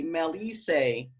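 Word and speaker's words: melissae: You'll notice that I say melisse to talk about the bee nymphs in plural.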